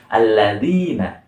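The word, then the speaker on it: الذين: Nah, jadi ujung lidah ini nih berada di ujung gigi seri atas. Ujung gigi seri atas di mana sih? Ini nih. Nah, jadi bacanya itu alladzina.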